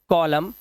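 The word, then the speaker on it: column: जैसे यहां पर एम के बाद एन आया तो इसे पढ़ते हैं डैम N silent हाईम एनसाइलेंट कॉलम N silent और ऑटम साइलेंट क्या है हमारा एन यहां पर साइलेंट है डैम मतलब लानत है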